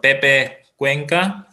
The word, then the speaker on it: Pepe Cuenca: they're very good too pepe cuenca that's how we pronounce his name but the problem is